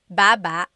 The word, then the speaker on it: baba: So depending on how you're saying it, it could be baba, chin, baba. Emphasis is on the first syllable, baba.